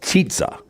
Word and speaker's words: Chizza: Chizza. It's pronounced Chitza. Is attempting. It's like chicken and pizza.